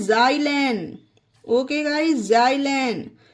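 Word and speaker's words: xylan: एक्स वाई आल ए एन इसे पढ़ते हैं जाइलन ओके गाइ जाइलन ये देखिए एक्स वाई एल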